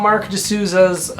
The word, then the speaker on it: Marq DeSouza: Yeah, so if you want to check out Mark D'Souza's music, it's spelled unusually, so you'll have to, if you're looking it up, you have to remember it's M-A-R-Q, it's Mark with a Q, and D-E-S-O-U-Z-A for D'Souza.